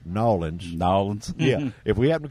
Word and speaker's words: New Orleans: come to to let me say it right nawlins nawlins yeah if we happen to come to